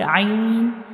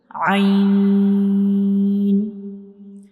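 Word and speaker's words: عين: So ha and ain have same origin. These two letters are pronounced from the middle part of the throat. So this is a throat letter and we pronounce it ain.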